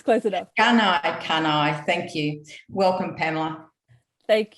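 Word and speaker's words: Gunaikurnai: Did I get the pronunciation right? Because I forgot to ask you. Gunai Kunai, it's close enough. Gunai Kunai, thank you.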